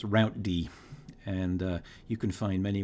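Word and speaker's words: routed: using rip um and and that was it's pronounced route D and you can find many references to this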